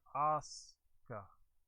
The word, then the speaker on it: Asuka: But yeah, the U is usually pretty silent. Like the name Asuka, it's spelled Asuka. But when you say it, you just hear Asuka.